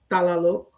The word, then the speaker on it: Talalo: Thank you, and talalo. Close. It's like easy to, if you pronounce it, in the middle, it's Lalo. So it's the T, Lalo.